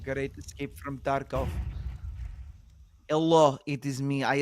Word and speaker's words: Tarkov: The man has played some Tarko, perhaps. What did you say? Tarko. Do you know? Tarkov? Yeah, Tarkov? Escape from Tarkov. Yeah. Tarkov. Do you not pronounce the nice V?